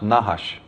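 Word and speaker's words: נחש: is nahash of course they didn't use vowels so it's just nhsh but that is pronounced nahash and it actually means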